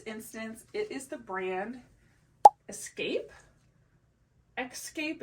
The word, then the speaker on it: Xscape: And in this instance, it is the brand Xscape. It's just an X. It's not like spelled like the traditional escape would be, but this one was brand new with tags.